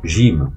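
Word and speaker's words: ج: Alors pour la prononciation, la lettre qui a un point en dessous s'appelle le jim.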